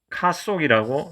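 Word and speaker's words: ཀཿཐོག: 우리 한국식 한자 발음으로 갈탁인데 이것을 티베트 발음으로는 카속이라고 이렇게 발음됩니다.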